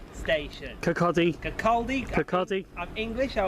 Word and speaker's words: Kirkcaldy: Well, as you can see, ladies and gentlemen, we have just arrived at Kirkcaldy station.